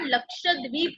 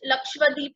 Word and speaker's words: लक्षद्वीप: Students बहुत लोग इसे मिसस्पेल करते हैं, दैट इज मिसप्रोनाउंस करते हैं, लक्षद्वीप करते हैं, कुछ भी करते हैं. इट इज not like that, it इज लक्षद्वीप.